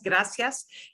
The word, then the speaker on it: gracias: but a th and even the word gracias which is g-r-a-c-i-a-s gracias in spain gracias so just so you know uh that is how they pronounced it there but nowhere in central